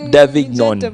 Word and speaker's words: Davignon: The G is silent. Davignon.